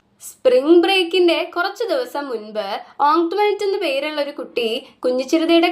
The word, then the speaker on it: Antoinette: Most of them pronounced it ആസ് ആന്റോയിനെറ്റ്. കുഞ്ഞിച്ചിരിത എന്ന് പറയണ പോലെ തന്നെ ഓങ്ക്ട്വനെറ്റിന്റെ പേരും ആന്റോയിനെറ്റ് എന്നാണ് അവരൊക്കെ പ്രൊനൗൺസ് ചെയ്യുന്നത്. ബട്ട് കുഞ്ഞിച്ചിരിത learned from ഓങ്ക്ട്വനെറ്റ് that the name ought to be pronounced Antoinette. കുഞ്ഞിച്ചിരിത try to say it that way. എന്നാൽ കുഞ്ഞിച്ചിരിത ഓങ്ക്ട്വനെറ്റിന്റെ മനസ്സിലാക്കി ഈ പേര് ആന്റോയിനെറ്റ് എന്നല്ല പ്രൊനൗൺസ് ചെയ്യേണ്ടത് ഓങ്ക്ട്വനെറ്റ് എന്നാണ്.